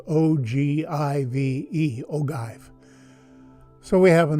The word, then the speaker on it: ogive: on how long it is an ogive pattern that's spelled o g i v e ogive so we have an ogive nose cone